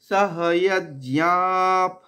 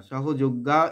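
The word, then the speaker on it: সহযজ্ঞাঃ: প্রথমে দেখব সহয়জ্ঞাপ, সহ ইয়াজ, ইয়াজ আমরা জ্ঞা বলবো না, সহযোগ্যা এরকম বলবো না, সহ ইয়াজ, ইয়াপ। ইয়ার পরে অন্তস্তয়ের পরে একটা আমরা কি করব, একটা আঘাত দেব। কেন? পরবর্তীতে যুক্ত ব্যঞ্জন রয়েছে। সহয়জ্ঞাপ, বিসর্গটা এখানে ফ এর মতো উচ্চারণ হয়, ফ নয় কিন্তু আমাদের ফ এর মতো উচ্চারণ করতে হবে।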